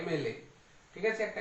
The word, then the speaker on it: MLA: Sound প্রথমে চলে আসছে, একটা ভাওয়েলের মতো একটা উচ্চারণ প্রথমে হচ্ছে MLA, MLA, MLA।